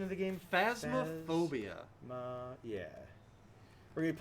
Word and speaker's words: Phasmophobia: We're going to be joining in on the ghost hunting craze, and we're going to be playing, how's the pronunciation of the game? Phasmophobia.